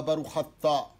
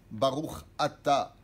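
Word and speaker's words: ברוך אתה: Pas Baruch Hatta. Dieu, il n'a pas Hatta. Hatta, ça veut dire fauter. Baruch Atta.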